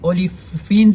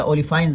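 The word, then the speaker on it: olefins: इसको जो है ना ओलिफाइंस भी कहते हैं, ओलिफिन्स या ओलिफाइंस, जो भी आप प्रोनाउंसिएशन करें।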